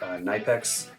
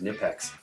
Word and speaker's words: Knipex: If any of you know Knipex, I think it may be actually pronounced Knipex. Knipex, it's a German brand, and they make just about the best pliers in the world.